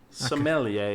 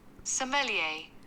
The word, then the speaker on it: sommelier: awesome millionaire yeah let's how you say it sommelier yeah sommelier look um you know I the Australian approach